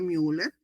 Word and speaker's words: Müller: Y esta conducto paramesonéfrico también llamado conducto de mer u l e rul que pronuncia müller.